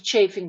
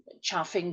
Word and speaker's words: chafing: This is called a chafing dish, chaffing dish, sometimes pronounced.